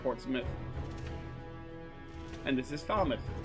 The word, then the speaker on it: Portsmouth: not leester it's Lester this is Portsmith not Portsmouth but Portsmith and this is fouth